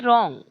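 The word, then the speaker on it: wrong: म्हणजे योग्य बरोबर अँड रॉंग आणि अयोग्य तर रॉंग चा अर्थ होईल अयोग्य डब्ल सायलेंट राहील डब्ल आर ओ एन जी या स्पेलिंग मध्ये डब्ल सायलेंट असेल ओके रॉंग गायडिंग देर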